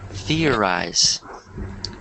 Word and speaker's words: theorize: it's weird I mean it's difficult because you have the th but this word is pronounced like this theorize your i theorize good